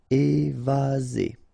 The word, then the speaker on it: évaser: Remember, one S between two vowels. Z. Évaser.